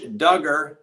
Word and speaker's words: Duggar: the judge gives josh duggar rhymes with hugger what he requests be